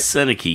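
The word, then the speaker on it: Sennecke: that's hockey business right there so um Becket seneki am I saying it right seneki yes I heard that name before now I'm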